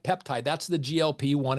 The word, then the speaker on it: GLP-1: like peptide that's the glp one it's not pronounced gulp even though you gulp